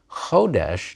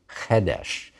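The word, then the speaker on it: חֹדֶשׁ: Unlike melech and kerev, chodesh did not turn into chedesh. It kept its O vowel.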